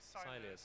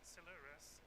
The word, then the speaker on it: Silures: I never know how to say that. Apparently Silures. I did check. I googled it earlier on. I mean, someone from South Wales, I should know. Google told me it's Silures, but the alum for